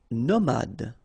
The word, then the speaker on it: nomade: Nomade, final E not pronounced.